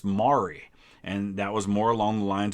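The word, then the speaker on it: Maury: down in kentucky my my last name is pronounced mari and that was more along the lines of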